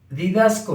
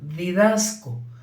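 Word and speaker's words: διδάσκω: es maestro que enseña didasco se escribe así como lo pronuncio didasco con ese y k didasco esto quiere decir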